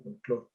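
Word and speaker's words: folklore: Me llamó la atención el uso del término folclore, con K en tu título, aunque lo pronuncias como folclore.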